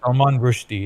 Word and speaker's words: Salman Rushdie: I don't know if I butchered his name. Salman Rushdie, yeah.